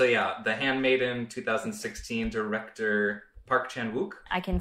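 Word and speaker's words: Park Chan-wook: necessarily expect so yeah the handmaiden 2016 director Park Chan wuk I can say that it's pronounced P chanuk oh I like to be on the record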